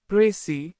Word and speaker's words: précis: A prey pronounced prey is a concise summary